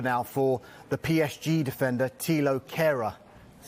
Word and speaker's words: Thilo Kehrer: But they've made an improved offer now for the PSG defender, Thilo Kehrer. That's how you pronounce it, isn't absolutely spot on.